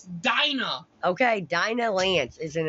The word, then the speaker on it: Dinah: It's not Delilah. God damn. That's how it's spelled. It's Dinah.